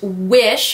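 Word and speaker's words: Whish: Next thing I am grabbing out of this box, it is by the brand Wish. It's spelled W-H-I-S-H, and it is a renewing mud mask.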